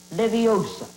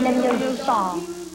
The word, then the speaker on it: Leviosa: When guardian leviosa, off you go then. Ardium leviosa wingardium wingardium leviosa. Stop. Stop. Stop. You're going to take someone's eye out. Besides, you're saying it wrong. It's Leviosa, not Leviosa.